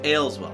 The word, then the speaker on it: Aleswell: we're gonna talk about ale as well I got all as well because it's easier to say that but it's really in the game it's pronounced ale as well so ales well well it's kind of